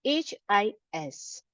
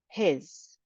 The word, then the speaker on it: his: spellings of this word it's h i s but the ending sound is z his you can see I've